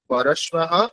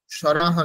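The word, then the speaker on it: পরশ্বঃ: পরস্পরা এখানে র নেই কিন্তু, সরাহা নয়, পর স্বাহা, স্বাহা বলুন, পরস্বাহা।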